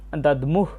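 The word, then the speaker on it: দধ্মুঃ: পথে আমরা দ্বিতীয় লাইনটা দেখতে পাচ্ছি দ্বিতীয় লাইনের উচ্চারণ হবে সৌভাদ্রাস মহাবাহু সংখ্যান দদমুহ পৃথক পৃথক আমরা প্রথমে দেখতে পাচ্ছি সৌভদ্রস।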